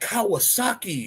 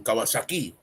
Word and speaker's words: Kawasaki: oh, look at that Kawasaki. You mean Kawasaki. So yeah, it's pronunciations.